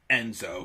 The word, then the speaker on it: nZo: know more c and enzo who lures spells his i think he was he would literally spell his name nzo which is would be pronounced enzo which you know would